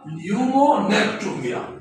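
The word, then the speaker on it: pneumonectomy: को कहा जाता है न्यूमोनेक्टोमी। ये पी साइलेंट है, न्यूमोनेक्टोमी।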